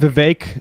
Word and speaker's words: Vivek: Vivek rhymes with cake.